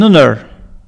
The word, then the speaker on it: honor: An honor. An honor. Aussi, c'est un h muet.